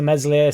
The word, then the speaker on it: Meslier: be the answer to meslier silent s obviously never happened a